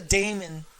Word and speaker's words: DAMON: It's DAMON, so it's got to be fucking Daemon.